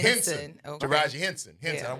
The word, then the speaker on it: Henson: Henson. Okay. Taraji Henson. Yeah. I knew it wasn't Henderson. I was about to say Henderson. P. But Henson. it's Henson.